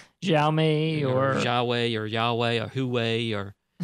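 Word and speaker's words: Huawei: was before yeah and it is pronounced why way yy-yeah right I think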